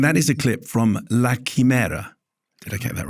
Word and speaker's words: La Chimera: It's your film, so you can pronounce it anyhow you like. I'm pronouncing it La Chimera. La Chimera, yeah.